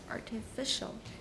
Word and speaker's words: artificial: next one artificial okay where's this dress be careful artificial mm-hmm it's usually artificial for example in this sentence it is stresses on which syllable good okay but in artificial snow it's on the first all right so